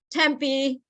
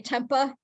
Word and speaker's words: Tempe: Tempe, they say Tempa. People that, come down to visit Tempa and then Point Tapatio, they say Point Tapatio, and they just kill some of the names no.